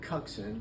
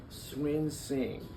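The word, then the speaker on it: Cunxin: Of course, all the Houstonians called him Cuxin, but he came in and said, "Can you tell me how to pronounce that? Swin Sing."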